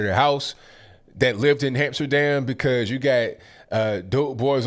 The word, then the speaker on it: Amsterdam: now what happened to Hamsterdam I by the way it's Amsterdam but one under little dope boy is pronounced it Hamsterdam so it just became known